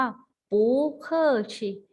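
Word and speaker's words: 不客气: เป็น ไร นะ คะ ออก เสียง ว่า ปู๋ ค่อ ชิ บู เคอร์เซอร์ ชี ไม่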